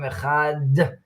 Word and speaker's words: Echad: Shema Yisrael Hashem Elokeinu Hashem Echad, and you hmm pronounce the Daled to stress the ayin and the dalet, who together make ed, is witness.